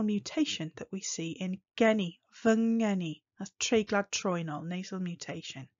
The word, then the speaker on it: ngeni: me guess even any that word guinea there sounds like any there's no hard g in that sound kersi vengeni here's a